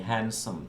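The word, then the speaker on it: handsome: हैंडसम, एज, ये silent letters हैं। हैंडसम, D silent होता है।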